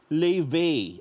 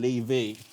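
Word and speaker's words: Laufey: sila ng set ng lave ang bigkas daw doon leve ayon yung brand ng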